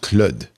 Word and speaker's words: Claude: Canada and he said, "No, no, it is pronounced clud."